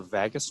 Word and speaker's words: vagus: I had a question about the vagus nerve. Okay. That's the correct pronunciation.